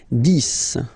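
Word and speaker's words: dix: 10, okay, so remember, final X here is pronounced like S.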